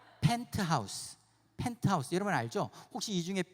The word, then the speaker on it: 펜트하우스: 먼저 하세요 네 맞습니다 발음 잘해야 돼 팬 티 하우스가 아니라 펜트하우스 펜트하우스 이름을 알죠 혹시